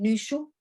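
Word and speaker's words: Nüshu: Entonces, es en esas épocas cuando surge el Nushu, se escribe N-U con diéresis y Z-H-U, ese Nushu.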